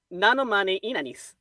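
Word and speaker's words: Ninomae Ina'nis: Nanomane Inanis.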